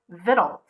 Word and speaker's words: victuals: Victuals. Do it first. How do you pronounce that word?